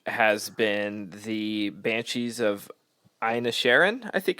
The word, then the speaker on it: Inisherin: My favorite of the bunch has been the Banshees of Inisherin. I think it's how it's pronounced.